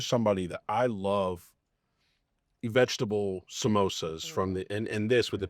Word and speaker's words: samosa: We also have, they call them samosas in South Africa instead of samosas, which is so interesting because it's literally the same spelling. It's just a different pronunciation.